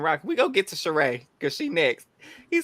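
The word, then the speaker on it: Cirie: It is Sheree. You're right. I'm wrong. It is Sheree. She has the accent on the end.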